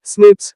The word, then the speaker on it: SNPs: single base DNA differences SNPs single nucleotide polymorphism pronounced as snips occur in humans.